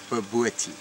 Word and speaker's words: bobotie: Now, how do you pronounce? Is it boboti or boboti? Bobotie.